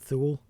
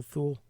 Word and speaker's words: Thule: And somewhere I read that it was pronounced Thule, and I'm like, I'm not pronouncing it that way. That sounds dumb. Primordial Thule just sounds more cool than Primordial Thule. So when these guys in this movie pronounced it Thule, I was like, fuck you, internet. I'm not the only one that thinks Thule is a stupid way to pronounce it.